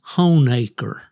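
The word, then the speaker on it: Honaker: If you are a native of Southwest Virginia, that is Honecker.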